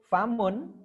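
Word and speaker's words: فم: Famun tidak ada penekanan ya, karena tidak ada panjang, tidak ada tasdid. Famun.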